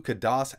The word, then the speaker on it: Khadas: look at the all-new kudos edge single board computer now I know some people pronounce it a little differently but I've always said kudos so that's what I'm sticking with so the board I